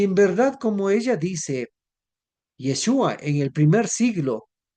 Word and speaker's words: Yeshua: Yeshua o de Jesús, pues debo decir en este canal respetamos la forma como pronuncie, pero tengo que decir claramente que en el contexto del origen es Yeshua, porque su nombre tiene